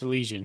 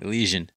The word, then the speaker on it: Elysian: Yeah, it's Elysian. Elysian. I've heard other people, I thought I heard it pronounced differently when I watched a commercial or something.